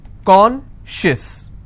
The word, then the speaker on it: conscious: Conscious. How many syllables do I have? 2. And I will stress on conscious.